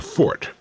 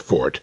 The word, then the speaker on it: forte: our strong points our Fort incidentally that's pronounced Fort never fort as the uninformed would have us believe Forte is an Italian musical term what is your fort